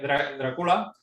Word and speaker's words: Drácula: de decir Drácula, porque Drácula, tal y como a ti te gusta también, Artur, y Jorge, es como se pronuncia originalmente en Rumanía. Se pronuncia Drácula, no Drácula, como estamos acostumbrados aquí, pero bueno, es solamente este pequeño anécdota.